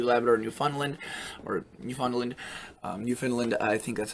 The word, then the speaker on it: Newfoundland: haven't cracked it before i think it's pronounced finland okay yeah i just checked it is new finland so um apologize if